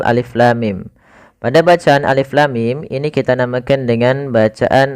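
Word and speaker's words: الٓمٓ: Jangan sampai kita membacanya misalkan alama, misalkan ini bacaan yang kurang atau bacaan yang salah. Ya, maka apa yang perlu kita kerjakan di sini? Maka kita harus baca dengan huruf-hurufnya. Maka kita uraikan satu-satu.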